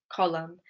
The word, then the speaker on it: column: We don't pronounce the N. We don't say autumn, damn, or column. Okay? We just say autumn with an M, damn with an M, or column with an M sound at the end.